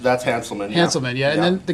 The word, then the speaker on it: Hanselman: Now the guy in the middle is Hazelman, or how do you say his name? That's Hanselman.